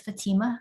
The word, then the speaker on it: Fatima: ahead and fetch uh fatima why don't you go ahead and introduce yourself hello my name is fatima you can also pronounce it fatima that's also correct i'm from sacramento and